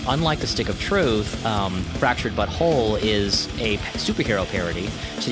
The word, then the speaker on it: The Fractured but Whole: to South Park the fractured but whole it pronounced that correctly by the way it's not it's not actually it's it's intentionally meant to sort of evoke a little saucy language there which actually is a